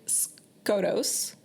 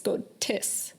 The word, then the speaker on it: Skotos: riding that wave so she says the word scos mhm but the Priestess corrects her saying it's scus yeah and apparently every